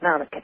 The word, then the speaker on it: Malachi: With that lovely name, Malachi, yes, pronounced in the Gaelic, you obviously have heard of the prophecies of St. Malachi.